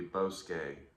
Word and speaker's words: bosque: The proper way to say Bosk is actually Bosque. It's the Spanish word for woods.